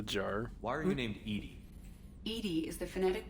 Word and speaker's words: EDI: a jar a jar why are you named Edie Ed is the phonetic pronunciation of Eed that is an acronym for